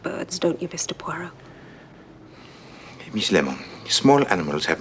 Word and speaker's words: Poirot: a parot of Mr porot pu it is pronounced PUO I beg your pardon